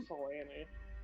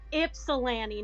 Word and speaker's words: Ypsilanti: I can't even say it like they're that wrong, but I'm like, no, you don't pronounce the Y like that. It's Ypsilanti, not whatever the fuck you just said.